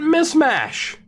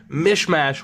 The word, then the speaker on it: Mismash: Grant Mishmash. I always said, I think it's Mishmash, but it is spelled Mismash.